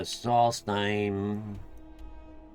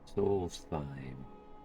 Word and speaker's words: Solstheim: Solstheim. Although I bet the H is silent. Matter of fact, I'm quite sure it should be. According to the accent that that guy had, they don't pronounce the H's.